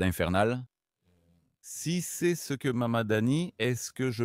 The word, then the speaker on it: Mamdani: Si c'est ce que Mamdani, est-ce que je prononce? Mamdani, oui.